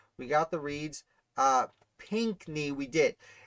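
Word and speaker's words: Pinckney: got the reads uh pinkney we did it's pink like the color knee tough uh borum yeah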